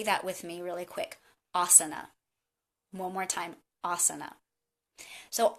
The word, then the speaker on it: asana: might be saying so the first word is asana and i often hear that mispronounced is asana but asana is a